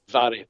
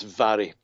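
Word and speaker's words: Mhairi: Though never convicted in the death of his girlfriend, and I believe that's Mary, correct? Is that how you pronounce it? It's Vary. It's Vary. Vary. Okay. Vary. MH in the Gaelic is pronounced V.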